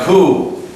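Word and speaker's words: coup: the Prime Minister and cou remember cou c c leader it forget the p in the pronunciation is strictly C like think pigeon C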